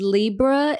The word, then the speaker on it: Lebra: My name is Libra. L E B R A. I am not a Libra.